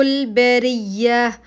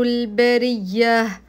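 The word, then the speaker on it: البرية: فيها اولئك هم شر البريه اولئك مد واجب متصل هم ابين هالمضمومه والميم الساكنه هم شر شر مشدده مضمومه البريه البريه الراء مكسوره فابين ترقيقها البريه والهاء اخرجها ان الذين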